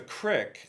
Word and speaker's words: creek: The crick, C-R-I-K, which is how it's pronounced in kind of the middle Atlantic states, I think.